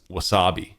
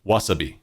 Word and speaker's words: wasabi: to learn is that Japanese is a mora time language it's not a stress time language so what that means is they try and have each syllable be the same in length that it's spoken so English there's an emphasis on things we'll say opportunity or a good word is wasabi wasabi wasabi as opposed to Wasabi North Americans will